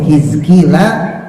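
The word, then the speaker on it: حزقيل: yaitu hizkila Nabi hizkil kok bisa tahu bacanya hizkil karenabi kasril muhmalati dengan dibaca kasrah huruf H kecilnya his Jadi bukan has bukan Gus walqofi dan juga huruf Kanya jadi Ki bukan ko bukan ku hiki wasukuni dan kemudian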